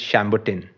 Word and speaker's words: Chambertin: it's like Chambertin, which is Chambertin.